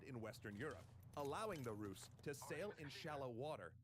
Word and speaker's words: Rus: The Vikings took with them Finnish translators who introduced the Swedes using the Finnish word for them, a name the Slavic people of the Baltics pronounced Rus.